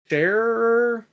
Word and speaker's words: Scherer: of people were like commenting back to Dave Scherer. Is that the guy from PW Insider? I don't know how to pronounce his last name.